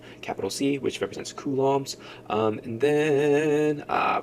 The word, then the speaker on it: coulomb: unit is capital c we pronounce that as kums um Elementary charge is